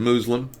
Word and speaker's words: Muslim: You like the word Muslim? That is the correct pronunciation.